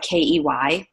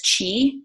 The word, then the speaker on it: qi: call them key skills which sounds like ke y but it's spelled qi and people recognize that is chi and or key which in essence has